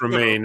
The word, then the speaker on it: Romijn: Yeah, it's Romaine. Her surname looks weird, but like it's just pronounced Romaine.